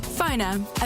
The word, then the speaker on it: Phoner: That's spelled PFONR. Phoner.